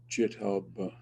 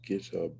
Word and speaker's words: GitHub: course are in this jiub or GitHub never know how to pronounce that I guess it's GitHub because the G in English is normally like that anyway um uh all